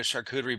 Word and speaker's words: charcuterie: I was like, I don't even know what a charcuterie board is.